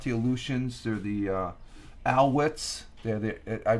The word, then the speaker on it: Alouettes: The U is pronounced with a W, so I've been pronouncing the Montreal Alouettes. They're supposed to, I was calling them the Aleutians, and it's not the Alouettes.